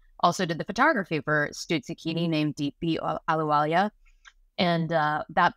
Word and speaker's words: Stuzzichini: And so Stuzzichini, what is Stuzzichini? Good question. And you're pronouncing it very well, which is impressive because that is usually the first question I get.